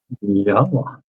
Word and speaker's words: Yahowah: This is the proper pronunciation of the name of, oh, there it is, Elohah, Yahowah. with the O coming from the Wah, as directed by his